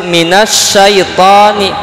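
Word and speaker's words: من الشيطان: Syaiton ini ada alif lam, tapi dibacanya langsung nun ke sya. Nah, minasyaitoni, alif lamnya tidak dibaca.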